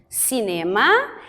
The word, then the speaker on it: cinema: está apenas na pronúncia os britânicos colocam a tonicidade na primeira sílaba nós fizemos cinema e eles colocam a sílaba mais forte a primeira então a gente lê